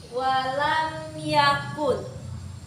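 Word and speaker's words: لَمْ يَكُن: Kemudian pada ayat keempat terdapat hukum bacaan izhar syafawi. Karena di sini ada mim sukun bertemu dengan ya. Cara membacanya itu jelas seperti ini. Walam yakun.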